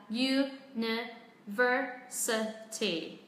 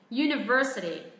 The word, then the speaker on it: university: Trọng âm rơi vào âm ver, vậy chúng ta hãy xuống giọng những âm còn lại. University. University.